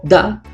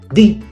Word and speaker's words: the: pronuncia ti por ejemplo si después de este artículo va a una palabra que empiece con consonante vamos a pronunciarlo como da por ejemplo si decimos